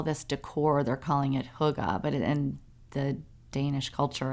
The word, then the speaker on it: hygge: a search result, it was talking about getting higgy. Oh, that's funny. I just talked about it today. What is getting higgy with it? That is so funny. Well, higgy is pronounced huga. Getting it's- hygge with it?